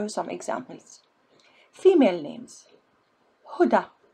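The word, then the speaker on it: هدى: Female names: Huda, Muna, Leila, Selwa. See, you don't pronounce ya, you pronounce it like you pronounce Alif. Huda, Muna, Leila, Selwa. It's like a sound at the end.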